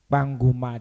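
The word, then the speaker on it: Kpanguma: The new localities and they go include Banguma districts. Banguma, it's spelled K-P-A, not P-A.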